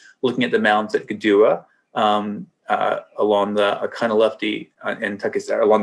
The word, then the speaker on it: Kituwah: Cherokee speakers sometimes, and it's pronounced more like a G by Eastern Band speakers here.